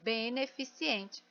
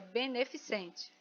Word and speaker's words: beneficente: correta ou não é o acento Aliás a pronúncia não está correta a palavra beneficiente muita gente fala assim ó beneficiente e ela está escrita e falada e forma errada a forma correta é beneficente muito dependendo da região eu escuto as palavras